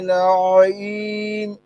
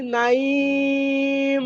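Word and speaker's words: نعيم: ইন, ইন্নাল আবরারা লাফি নাঈম। হ্যাঁ, বলেন সাবির ভাই বলেন। ইন্নাল আবরার লাফি নাইম, নাইম কেন ভাই? নাইম, আইন আইন উচ্চারণ করেন।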